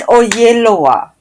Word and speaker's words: Oyelowo: But I only recently learned how to say his name because he pronounced it for me. It was like he was amongst Nigerians and he pronounced his name correctly. But he's been going around telling us white people that it's David Oyelowo. Oyelowo. Oyelowo. Right, that's it.